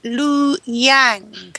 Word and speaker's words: Liu Yang: the first female astronaut is called uh let's pronounce it right Lu Yang that's correct Liu yang okay you need to